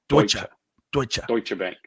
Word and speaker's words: Deutsche Bank: if as sylvia says we pronounce the t dutch a bank deutsche bank okay so those smart